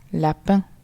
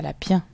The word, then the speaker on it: lapin: Lapin. Non, lapin est un piège, on ne dit pas lapien.